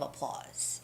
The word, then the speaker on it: applause: with a round of applause all right so applause itself is pronounced applause with the stress on the second syllable which is loss applause applause but liz